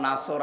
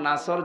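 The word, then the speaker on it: نصر: যে কিছুক্ষণ আগে পড়লাম না, ইযা জা নাসরুল্লাহি ওয়াল ফাত, এখানে নুন সাদ র নাসর আছে, নাসর মানে সাহায্য। নুন সিন র নাসর যদি কেউ উচ্চারণ করে, মুখটা গোল না করে স্বাভাবিকভাবে সিন দিয়ে, তাহলে বাংলা অর্থ হবে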